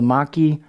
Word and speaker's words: machi: This is an old school handle install where they've got a little bit of the tang showing, called the maki or machi, depending on your pronunciation.